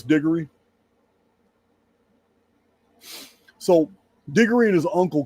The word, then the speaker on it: Digory: And it is Digory.